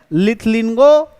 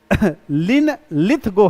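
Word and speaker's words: Linlithgow: Pronunciation का दिक्कत है देख लेना जो भी मेरे को जैसा प्रोनाउंसिएशन हुआ मैंने कर दिया है ना लिन लिथगो है।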